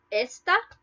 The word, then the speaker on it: esta: For example, esta versus está. So this versus is. Esta, without an accent mark, you stress the first vowel, which is E.